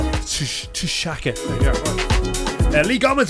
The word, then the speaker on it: Tshaka: Tshaka Campbell there, and that's spelled not like Shaka Khan, that's spelled like Tshaka, so Tshaka.